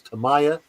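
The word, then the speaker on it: Tamiya: how you say it and they said it's toaya not how you said I there's nothing difficult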